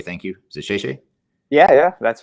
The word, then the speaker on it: 谢谢: Is it "谢谢"? Yeah, that's right. You got it right. How do you pronounce it?